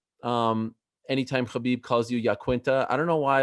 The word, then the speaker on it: Iaquinta: me up every time i think that's how you're supposed to say my name oh really i think he says it right okay what is it a russian name no it's it's an italian name but i think it's yaquinta it's not okay you